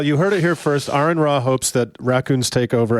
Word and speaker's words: AronRa: Otherwise, of course, my YouTube channel is Aronra, pronounced Aron Ra. Right. Not Aaron, Aron.